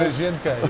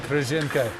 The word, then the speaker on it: Kryzhynka: I think it's pronounced butthole. Kryzhynka is the name. Kryzhynka.